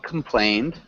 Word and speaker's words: complained: Can you repeat complained? Complained. Yeah. And make sure you get that D sound at the end.